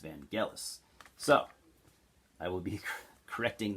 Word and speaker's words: Vangelis: that i called him van jealous i called him vangelis for probably the last 15 years because i didn't know it was actually pronounced vangelis so i will be